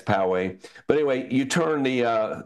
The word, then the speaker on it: Poway: If you know how to pronounce it, then you're definitely a local. But it's not Poway, it's Poway.